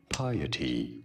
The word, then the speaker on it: piety: This is said as filial piety.